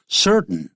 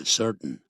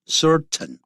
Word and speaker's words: certain: Certain，刚才呢 Steve 念的是叫 certain，而不是 certain 啊，念快的是叫 certain，用鼻音出来。